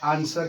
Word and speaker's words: answer: तो इस स्थिति में डब्लू का उच्चारण नहीं किया जाएगा और इसके बाद का उच्चारण आंसर किया जाता है।